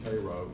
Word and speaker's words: Cairo: Vereen McNeil Bell was born in Cairo. Yes, that is the way we pronounce it.